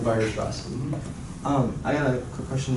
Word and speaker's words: Weierstrass: This is how I'm taught to pronounce them, at least. Bolzano and Weierstrass.